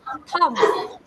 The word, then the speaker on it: thumb: B spelling में लिखा जाता है, but it is pronounced as thumb.